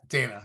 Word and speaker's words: Dana: Is it pronounced Dana, your name? Yeah, Dana, yes.